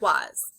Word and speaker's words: was: This is the word was. The A says and the S says z. Just like in the word is, sometimes S says z at the end, like in was.